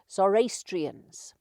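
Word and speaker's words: Zoroastrians: I keep putting her R in it. I was told how you pronounced it. Zorastrians.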